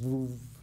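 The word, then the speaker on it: זבוב: It's onomatopoeia. The word for a fly is a zvuv. You know, that's the sound flies make, you know.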